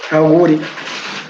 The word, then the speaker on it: Auguri: So how do you pronounce this? Auguri Jan. Au- Auguri. Auguri. Auguri. And that Auguri. is like what? Good luck, congratulations.